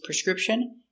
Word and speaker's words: prescription: prescription prescription prescription prescription the stress is on the second syllable script prescription prescription prescription